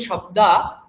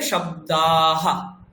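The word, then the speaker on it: শব্দঃ: তার তো উচ্চারণ নেই ওই যেরকম আ বলছি আ এর পরে একটা হা মানে হ অল্প তাহলে শব্দাহা শব্দাহা তেমনি তারপরে দেখুন অর্থ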